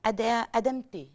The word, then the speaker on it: Adamte: Il s'agit de monsieur Adamte. J'espère que je prononce bien. Adamte. Très bien, oui. D'accord. C'est bien prononcé, oui.